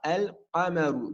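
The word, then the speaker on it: الحمّام: lunaire c'est le contraire le lem ici on va le prononcé on dira el hammam donc le raf et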